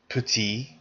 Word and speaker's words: petit: the masculine has PE don't pronounce the final consonant so listening to these again repeat them with me put petitte PE petite so notice there's